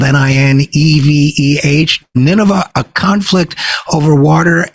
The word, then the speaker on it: Nineveh: may remember Nineveh from the Bible the word is spelled n-i-n-e-v-e-h Nineveh a conflict over water and it was